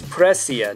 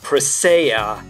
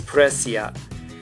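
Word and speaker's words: Presea: when he sees precia but her name is precia not prisaya which i've heard people say and then i watch the english version and the characters pronounced it as prasea but that's incorrect her name is presia which is very cute so yeah there's that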